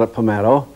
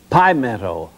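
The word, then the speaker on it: Pimento: old and of course i pronounced it just the same way as you would a meadow and all during that tournament i called apple meadow and when i got back to the studio the telephones were breaking off the wall i'd pronounced it wrong it was pi meadow there's five seconds left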